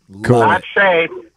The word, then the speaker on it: Che: gotta fill us in Phil pronounces your name che I pronounce your name che so which is it uh it's actually say I have a friend whose name is say Oh H yeah so